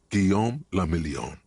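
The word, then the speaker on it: Guillaume Le Million: Giam Lamelon. If it doesn't rhyme, you're not pronouncing it right.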